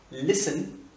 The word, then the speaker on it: listen: Le T ne se prononce pas. Listen, equal listen.